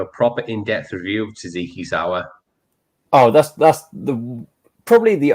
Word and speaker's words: tzatziki: How do you say? Is it Tzatziki or Tatsiki? Tzatziki.